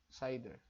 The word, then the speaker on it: CIDR: classes inter domain routing CIDR pronounces cider so assignment of IP